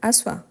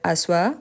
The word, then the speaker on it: asseoir: Parce qu'il y a les E qu'on ne prononce pas.